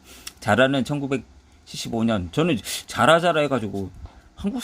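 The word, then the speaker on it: Zara: 그런 트렌드라든지 스페인에서 알파벳 G는 S음에 가깝게 발음되기 때문에 현지 발음으로 하면 사라라고 적어야겠지만 한국에는 익숙한 대로 적기로 하자. 자라는 1975년.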